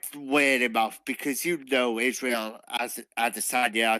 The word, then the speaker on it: Adesanya: that I feel like Bisping may be landing a slightly better array of strikes in comparison to Adesanya, Doctor Who.